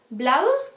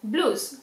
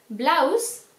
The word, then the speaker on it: blouse: Blouse, cuidado que no es blues, como muchos de los españoles decís. Blouse, ya veréis un vídeo